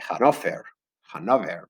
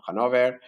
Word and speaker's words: Hannover: Yo simplemente quiero que sepáis que son de la dinastía de Hannover, o creo que se pronuncia en alemán, o Hannover, que es la dinastía que sigue existiendo hoy en día en Inglaterra.